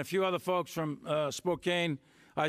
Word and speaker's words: Spokane: And a few other folks from Spokane. I say Spokane. I guess the proper way to say it is Spokane or something like that. That's the French way. But I say Spokane, Washington.